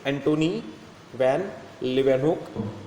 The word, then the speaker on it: Antony van Leeuwenhoek: Antony van Leeuwenhoek, pronunciation is Antony van Leeuwenhoek.